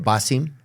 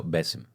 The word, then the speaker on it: Bassem: Basim. No. Bessim. Bassim. Bessim. It's a softer.